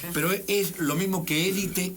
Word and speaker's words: élite: que en un principio en francés se dice elit en francés la pronunciación es elit pero nosotros confundimos la